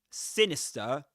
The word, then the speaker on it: sinister: you can see that sinister in isolation. I mean, the the final letter, the final raw is not pronounced in sinister in the UK, at least not in southern standard British English.